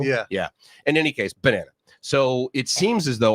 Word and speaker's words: Banana: was looking online, and I know that we pronounce it banana, but I believe it's ba-nana. Yeah. Right? In other words, like, because the nana is like almost a separate word in their logo.